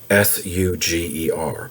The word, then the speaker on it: Suger: It's spelled sugar, S-U-G-E-R, but it's pronounced Suger.